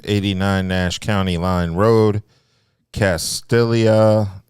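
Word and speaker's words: Castalia: Nash count Line Road castia is that how you pronounce it Casia castillia oh it's Spanish it's Spanish Castilla North Carolina 27816 and it's going to be from 900 a.m.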